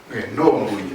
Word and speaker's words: Nora Mbouyi: Nora Mbouyi, pas Nora. Nora Mbouyi. Nora Mbouyi, oui. Il faut bien prononcer le nom.